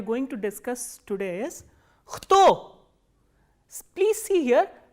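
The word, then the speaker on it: кто: learn 3 interrogative words: kto, shto and gdje. The first interrogative word that we are going to discuss today is kto. Please see here, k and t together are pronounced as kto, not kto.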